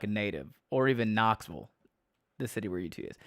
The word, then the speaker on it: Knoxville: How do you say Sevierville like a native, or even Knoxville, the city where UT is? So yeah, there's no vills in Tennessee. It's vull. I think so. Knoxville is Knoxville.